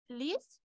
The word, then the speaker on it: lisent: Et comme d'habitude, ENT à la fin, on ne prononce jamais.